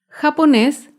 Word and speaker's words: japonés: con la palabra japonés japonés es una palabra aguda se acentúa en la última sílaba y lleva tilde porque termina en la consonante ese japonés un ejemplo de una